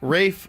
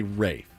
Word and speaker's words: Ralph: How about Rafe Fiennes, whose name is spelled Ralph? My name is spelled Ralph, but I want you to call me Rafe. The L is silent. Rafe. And the A is long.